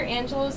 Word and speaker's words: Angelou: me okay well um Dr Angelo's name is pronounced Dr Angelo and I heard it straight from her when she was giving